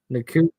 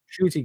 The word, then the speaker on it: Ncuti: Nkuti? Oh god. He's Scottish. Shotty. No way is that how you Shooty. Pronounce Ncuti is pronounced shoot.